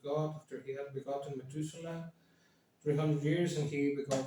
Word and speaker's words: Methuselah: is in Spanish how do you say it Methuselah Methuselah Methuselah okay and then of late uh 65 years have you ever gotten me too soon and enough walked with God after he had begotten Methuselah 300 years and he become sons and daughters